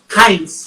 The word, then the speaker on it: Heinz: Heinz. Es sí. como, se escribe igual que la salsa de tomate, pero la EI en alemán es AI.